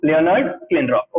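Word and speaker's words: Leonard Kleinrock: लियोनार्ड क्लिनरॉक. वापस बोलो, लियोनार्ड क्लिनरॉक. Okay, तो इसका मैंने प्रोनाउंसिएशन आपको बता दिया है.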